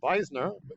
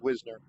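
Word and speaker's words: Wisner: My last name is technically pronounced Visner because it's German. But uh here we say Whisner.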